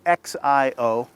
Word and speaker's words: Xiomaro: The X is pronounced like an S, so it's Xiomaro.